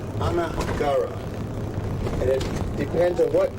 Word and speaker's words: Niagara: Incidentally, the word Niagara is an Indian word. It's pronounced really Anagara. Anagara.